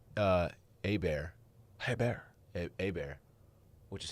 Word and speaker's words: Hebert: it's quite complex uh a bear hey bear a bear which is how that's pronounced sometimes is t-bob hebert still been in